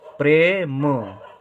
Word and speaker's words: प्रेम: साथ हो रहा है, प्रे प्रे। ठीक है, प्रेम प्रेम।